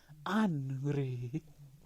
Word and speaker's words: Henri: And you have to say it like he says it. Henri.